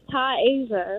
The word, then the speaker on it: Taisha: Y'all still saying it wrong. Taisha, like the continent Asia.